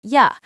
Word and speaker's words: you: To becomes ta. For becomes fur. You becomes ya.